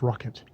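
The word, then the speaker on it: Rocque: i'm i'm simon simon rocket it's r o c u u c r o c q u u a e t but it's pronounced rocket and harriet goes giggles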